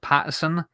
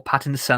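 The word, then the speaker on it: Pattinson: really enjoyed it i'm i'm still not sold on robert patterson or pat in the sun i should say i would say his name wrong it's in as opposed to er in the middle of his name um i know that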